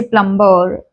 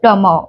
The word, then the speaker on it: plumber: Mostly like uh, if we talk about plumber, so people say plumber, they pronounce b sound. This should not be there. It's like plumber, we don't pronounce b.